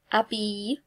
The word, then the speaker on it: habille: The only one you have to be a bit wary about is habille, because it starts with a H and it's like a vowel because we don't pronounce it.